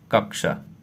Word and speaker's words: कक्षा: तो कक्षा शब्द का शुद्ध उच्चारण क्या होता है? तो इस शुद्ध उच्चारण यही होता है क, फिर क, आधा क और मूर्धा स अ की मात्रा, ठीक।